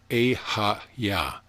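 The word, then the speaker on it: Eheieh: or in tone is ihi e-h-e-i-e-h pronounced e ha-ya we'll discuss these words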